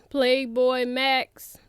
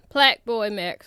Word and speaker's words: PlaqueBoyMax: Y'all, Playboi Max, Plaqueboy Max, I'm sorry. I keep saying it wrong.